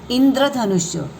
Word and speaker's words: इंद्रधनुष्य: गंधर्व, इंद्रधनुष्य, ऐसे जब जुड़ता है ना तो उसमें पहले द का उच्चार होता है फिर र का। इंद र, इंद्रधनुष्य।